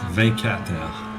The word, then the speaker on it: 24 Heures: 24 heures.